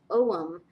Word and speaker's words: Om: is the cover and this is for AUM or om however you pronounce it I think it's um supposed to be pronounced om but most people recognize the term AUM so um I put